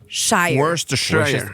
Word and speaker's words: Worcestershire: En fait, il est plus court il se prononce plus court qu'il s'écrit. Fait que là, je suis allée voir. Puis en phonétique, c'est Worcestershire. Worcestershire.